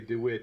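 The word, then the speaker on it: De Witt: saying there are options Johan DeWitt or probably David but it's spelled DeWitt DW d w i t t so let's say the uh the we we Anglers can can say DeWitt and everyone from uh Netherland has to say did it yeah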